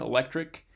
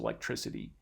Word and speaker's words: electricity: aware of is that when we have the word electric by itself this ends in sort of that hard c sound the k sound electric uh but when we add this affix to it that co sound turns into an s or a soft c sound so electricity which is